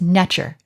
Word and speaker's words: nTr: second t and r in modern times we pronounce this nectar and this is the word for god in